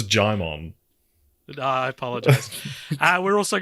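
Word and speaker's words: Djimon: honu Regina Nicki Minaj Digimon is that not how you say it no it's gimon I apologize uh we're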